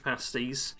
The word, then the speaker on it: pasty: You get your tea and your Cornish pasties, right? Sorry, it's so brilliantly British. Somebody corrected me and and said to pronounce pasty is pasti. Uh because that's that's the British way of pronouncing it.